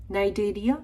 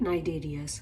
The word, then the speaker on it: Cnidaria: Stinging cells presence है cnidocytes जिनको बोलते हैं, hence the name Cnidarias, right? Here C is silent.